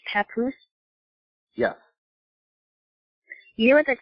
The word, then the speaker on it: Papoose: So his name is pronounced Papoose? Yes. You know what that sounds like? You know there's a place in Oregon called Scappoose.